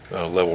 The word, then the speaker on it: Leavel: that's called Level Drive. It's spelled Leavel, I believe.